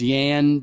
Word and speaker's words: Jan: And so essentially you're this one dude and you are your name is Yan Doulski I think his name is like Jan but it's pronounced Yan or Yan.